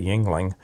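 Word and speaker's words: Yuengling: about the Yingling and that's how you say Yingling beer how it was started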